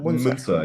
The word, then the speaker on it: Munzer: Is that how you pronounce it? Munzer? Munzer, yes.